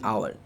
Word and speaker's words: hour: The fourth example is an orange, and the last example is an hour. So please look at the word hour. Notice the word hour starts with a letter H, that is a silent letter over here.